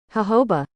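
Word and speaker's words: jojoba: smell of chocolate now I know it is these continents that are messing us up with this word but here's how you actually say it hoba hoba is a shrub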